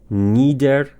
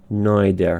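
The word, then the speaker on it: neither: واژه بعدی ندر یه تلفظشه که تلفظ یو. تلفظ یوک یا بریتیش نایدر هستش نادر اوکی یعنی نه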